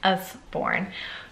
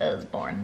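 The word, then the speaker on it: Usborne: some amazing sorry Osborne I always say it like what like with a Z it's not it's just I'm a dingleberry and that's how I pronounce things sometimes wrong so um it's us-born but when I say it it sounds like Osborne like Ozzy anyways so the US foreign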